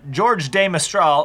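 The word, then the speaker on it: George de Mestral: But Switzerland is more in the German, French tradition. George. Than, George of the Jungle. George de Mistral, a Swiss electrical engineer.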